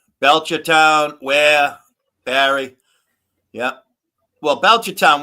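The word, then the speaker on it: Ware: Um, and uh, where now uh, now you see that town right there? Where? W A R E. The way you pronounce it phonetically is wh you say where.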